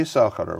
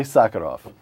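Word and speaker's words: Sakharov: the wife of Andrea s Andre I sakarov pronounce it for me Yuri sakarov first name though Andre sakarov Andre sakarov in 1980 well we'll come to what happened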